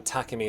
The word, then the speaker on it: Takemi: Technically the first syllable in Takemi is supposed to be stressed, so I think the pun was Takemedic.